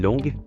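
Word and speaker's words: 龙: vif du sujet le mot dragon se prononce long en chinois c'est aussi un nom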